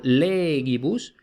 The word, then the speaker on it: legibus: Luego, esta, la penúltima, no tiene macrón, por tanto, legibus, inter se.